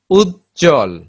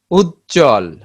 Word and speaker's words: উজ্জ্বল: যুক্ত ব্যঞ্জন মানে কি, একাধিক ব্যঞ্জনের সাথে যদি ব ফলা যুক্ত হয় সেক্ষেত্রে ব এর উচ্চারণ থাকে না। যেমন উচ্ছ্বাস, উচ্ছ্বাস, উজ্জ্বল, উজ্জ্বল, তাত্ত্বিক।